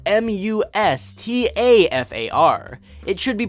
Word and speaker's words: Mustafar: takes place on an awesome-looking lava planet spelled mus TAF AR it should be pronounced Mustafar not Mustafar or Mustafar Mustafar Tatooine